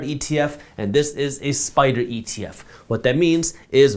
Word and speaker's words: SPDR: By the way, just so you know, Spider is spelled SPDR.